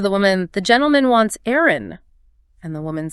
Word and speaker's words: eyren: In the south of England, the word for eggs was Eyren.